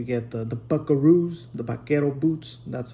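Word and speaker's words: vaquero: the the bakaroos, the bakero boots. That's how it is. Bakero. Um, Anglo couldn't pronounce bakero, so they started saying bakaroo. Bakeru, bakaru. and then it became a buckaroo.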